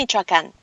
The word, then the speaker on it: Michoacán: It's Uruapan, Michoacán, and you are correct.